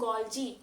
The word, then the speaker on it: Golgi: is called G body pay attention to the pronunciation here it is goji goji body is also known as Golgi apparatus